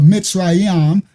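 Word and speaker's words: מצרים: Ta served as the patrian god of Memphis in Egypt, the capital of of Mitzraam. That's how you say it in Hebrew.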